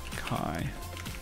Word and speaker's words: chi: continue to call it Chi out of habit Chi Squared Chi Squared Pro tip he resembled his accusations it's pronounced Kai squared alrighty Chi Squared my